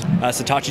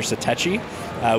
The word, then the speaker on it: Satechi: that that website is satochi dotnet satochi yes I've been reduced pronouncing them again there's about three or four different ways of pronouncing it so us in the